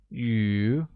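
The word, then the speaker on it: 鱼: who tell you we're fish becomes you and is pronounced with the mid rising tone great note that in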